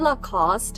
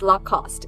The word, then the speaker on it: Lacoste: French so that got me wondering "is it Lacoste in English too?" I googled it and yes it's Lacoste in English and about this one I literally